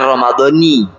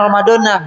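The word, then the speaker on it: رمضانِ: nggak jadi masalah meskipun secara Nahwu yang benar Romadhoni cewek bugil dulu kita bacanya Romadhona ya nggak jadi masalah Hai karena yang wajib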